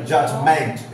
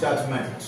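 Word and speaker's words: judgment: জাজ অব্দি বলতো এইটা এই জটা মেন্ট এটা জাজমেন্ট এটা অ সাউন্ড অউন্ড আ সাউন্ড যেটা ওই মেন্ট এটা এম এ এন টি এটা ই হবে না ইয়ে হবে না আ সাউন্ড হবে আ sound জাজমেন্ট জাজমেন্ট জাজমেন্ট জাজমেন্ট না জাজমেন্ট ব্রিটিশদের মত উচ্চারণ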